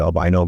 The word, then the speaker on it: Albino: A story poorly titled Albino, or Americans say albino, but Albino, who was the son of Yamuja and has powers, powers, and we did a test for that.